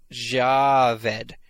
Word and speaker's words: Javed: Oh, and it's pronounced Javed. So Javed Mohammed.